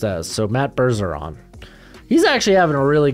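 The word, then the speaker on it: Bergeron: here see if I can find it so Burr siron bursaron what white out here says it's pronounced as so Matt berzeron I'm actually having a really good season uh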